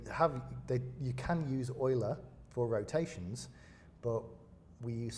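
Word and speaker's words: Euler: Oiler. That's how you pronounce it. Yes. But lots of people pronounce it as Ula. It's actually Oiler.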